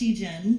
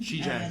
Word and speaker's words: Shegen: Yeah, so it's actually pronounced Shegen, Shegen. like Okay. female degen. Shegen.